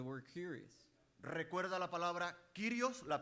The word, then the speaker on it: kyrios: recuerda la palabra kyrios, la pronunciación, Curious?